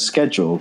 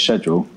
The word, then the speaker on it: schedule: But I've been pronouncing schedule as schedule all my life. Oh, yeah. And the proper correct British pronunciation is schedule.